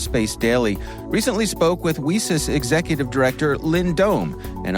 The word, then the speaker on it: WiCyS: acronym wi Ys and we pronounce it whis like we sisters because we're a global